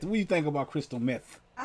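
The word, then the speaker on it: Crystal Methyd: Was Crystal Method.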